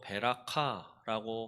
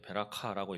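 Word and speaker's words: בְּרָכָה: 복은 히브리어로 베라카라고 합니다. 예. 베라카라고 읽어요.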